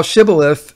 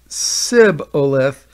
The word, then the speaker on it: Shibboleth: unto him, 'Say now, Shibboleth,' and he said, 'Shibboleth,' for he could not frame to pronounce it right. The Ephraimites seem to have had trouble to pronounce the letter H.